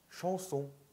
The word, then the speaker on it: chanson: 그래서 chanson, chanson 한국말로는 샹송이라고 하잖아요. 그런데 프랑스식으로 발음하시면 chanson, chanson, 엉이니까. 엉이니까요. 한국, 그러니까 한국식으로 발음 표기하실 때에는 앙이라고 표기를 하는데요. 그리고 그렇게 배우기도 해요. 그런데 그렇게 발음하시면 안 돼요.